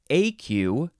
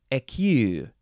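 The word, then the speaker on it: écu: Okay, this word is pronounced either AQ or, and I don't know if I'm going to pronounce this right, EQ. The pronunciation has the U-E connected, so that seems like a French way to say it, and neither syllable is emphasized. AQ. I'm just going to say AQ, because that's my American way to say it.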